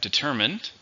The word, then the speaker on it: determined: It has a word family, so we have determined, but the meaning is a little different. The meaning for determined is won't stop, won't quit. It's an adjective. 3 syllables, stress on the second.